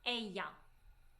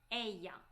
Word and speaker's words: ella: And she will be ella. Ella. All right. Here I need to stop. We have double L. In different Hispanic countries, double L is pronounced differently. Sometimes people say ella, sometimes people say ella.